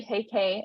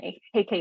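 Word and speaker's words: Huyke: media platform um it's gonna be at hey KK my last name is spelled h-u-y-k-e and then you can find me on LinkedIn at heike again hey KK is spelled h-e-y-k-e doesn't look like how it's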